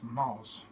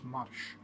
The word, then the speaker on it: marş: And also that's called M-A-R-S, Mars. But it's not pronounced as Mars, it's pronounced as marş.